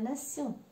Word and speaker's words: nation: Nous avons la terminaison TION, qui dans une grande partie des cas, ça se prononce sion, mais des fois, beaucoup plus rarement, tion.